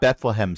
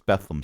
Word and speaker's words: Bethlehem: It's not Bethlehem steel. It's Bethleam steel.